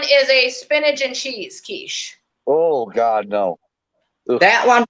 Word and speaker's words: quiche: the pie crust for the kiche not the quish the key I laugh so hard